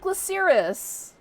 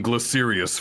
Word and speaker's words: Glaciris: How do you mess up Glaciris? You and so many others called him Glacerius for the longest time.